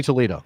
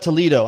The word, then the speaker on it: Toledo: heard someone church up toledo i don't know sure how what that how that's how you say it you don't say toledo in spanish you say toledo that's the toledo's a spanish word yes there's a city